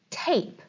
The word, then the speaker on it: tape: is a mystery okay this is the word tape notice it does have tap in it but it also has a silent e it has an e at the end like in maid whoa adding one little